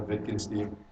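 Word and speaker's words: Wittgenstein: right very good yeah in German he's Austrian you know the W is pronounced like a V you know vikin steeve I used to uh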